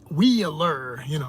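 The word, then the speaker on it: WĒLR: top of the E, pronounce it with the Wheeler, like a wheel rolling.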